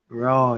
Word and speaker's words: rho: lots of products named r h o lots of products named rho after the Greek letter rho would that be pronounced row yeah Greek letter roll